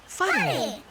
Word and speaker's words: Whare: Whare. Can you tell me the sound the word begins with? F. Ka pai, f.